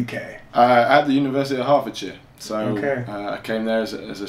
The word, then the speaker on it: Hertfordshire: Hertfordshire.